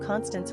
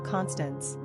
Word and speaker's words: Constance: bump in the early 1980s, due to a wickedly fun character named Constance Weldon on the short-run primetime soap series Flamingo Road, played by Morgan Fairchild.